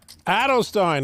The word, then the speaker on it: Edelstein: the WSOP and Mr Edelstein is that how you pronounce his name Adel Stein like Leonard Bernstein yeah that'll that'll help